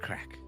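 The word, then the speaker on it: craic: As we say here, it's good crack. Not crack as in the drug. Crack as in C R A I C, which is fun in Irish.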